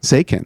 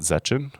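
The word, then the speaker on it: Zechin: It's not Zetchin. Well, I thought so. Maybe, but I think it's German, maybe.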